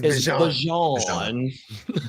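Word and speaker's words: Bijan: Uh Bjan said his the way to say his name is Bjon.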